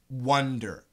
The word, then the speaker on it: wonder: pronunciation great question so W a and D er is an ah ah wha wander wander w om d er isn't a wonder wonder so it's the same